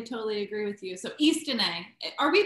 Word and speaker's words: Istine: um totally totally totally agree with you so East are we pronouncing this correctly Angela east east yes East